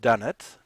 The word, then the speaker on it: Dunnett: Uh, but it's pronounced Dunnett. It's kind of a lot like donuts, but I'm not as holy, so that way you can remember a little bit how it's pronounced.